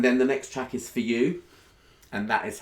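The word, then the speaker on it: Fuh You: And then the next track is For You, and that is how to pronounce it. For You. It's a pun on the word for. It's not a swear word.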